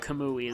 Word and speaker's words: Camus: trailer, but I was just like, I've been pronouncing it that way the whole time. Because it's, you know, Albert Camus, the French philosopher, and also the fact that he's Japanese, like in Japanese, it's spelled Camus.